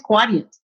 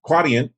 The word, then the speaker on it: Quadient: Did I pronounce that right? Yes, Quadient. Yes. Quadient.